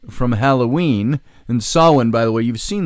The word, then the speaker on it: Samhain: really reclaim their Yule from Christmas or their saw one from Halloween and saw one by the way you've seen the word probably it's spelt funny it's sa m h AI ends pronounced Sawin from Halloween and it's nonetheless a really worthwhile